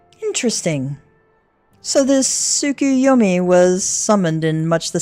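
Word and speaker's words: Tsukuyomi: It is pronounced sukuyomi. Correct.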